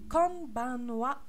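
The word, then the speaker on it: こんばんは: On va dire kanbanwa, kanbanwa, kanbanwa. Et la même explication, le ha va se prononcer wa.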